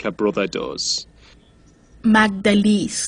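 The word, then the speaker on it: Magdalys: asylum who pronounce the name right don't really pronounce it right like her brother does magdalese like a song stupid sort of english-speaking people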